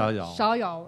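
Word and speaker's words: Schjeldahl: and a Weapon at the New Museum, Peter Shadal, I'm guessing is how you pronounce it? Shadal. Oh gosh, I was totally off. Shadal.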